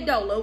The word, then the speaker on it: doula: Doula or doula? And I always say doula, and everybody be laughing. I'm like, y'all, I've been saying this for years. Ain't nothing new, ain't nothing changed. Okay, I've been saying it wrong for years. Doula. I say doula, some people say dola, whatever.